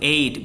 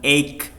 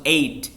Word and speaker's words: eight: Delapan itu eight, bukan eight. Nggak ada g-nya sama h atau h, itu dihilangin ya, langsung eight.